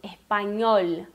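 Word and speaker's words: español: E o N, que é esse N com a virgulídea, se pronuncia como o nosso NH. Então, espanhol, ok?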